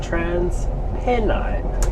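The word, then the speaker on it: TransPennine: able to find out is that the correct pronunciation of this train company is Trans Penine as in Pen Pasta. This is a Trans Penine Express service to Red Car Central.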